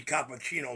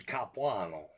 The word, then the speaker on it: Capuano: Cappuccino is what they call me, but it's Capuano.